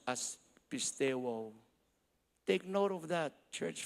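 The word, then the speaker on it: πιστεύω: The word here in the beautiful Greek translation is pronounced as pisteuo. Take note of that, church family, pisteuo.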